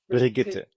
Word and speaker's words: Brigitte: Bridget is how do you Brigitte. pronounce?